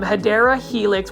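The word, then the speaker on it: Hedera helix: the hedra Helix now these um hadera Helix which is the correct way to say it or English ivy this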